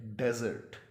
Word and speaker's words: desert: सहरा अगर इसको कहें, तो इसकी प्रोनाउंसिएशन जो है वो है डेजर्ट, डेजर्ट।